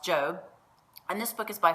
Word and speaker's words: Job: looks and spelled like job j.o.b but it's pronounced Joe and this book is by far one of